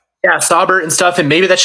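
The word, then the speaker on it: Saubert: his name Eric Sabbert yeah yeah Sabbert and stuff and maybe that's just something that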